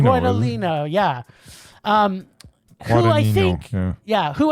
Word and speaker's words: Guadagnino: How do you pronounce his name? Giorgino? Gino? Isn't it? It's Luca Guadagnino. Guadagnino, yeah.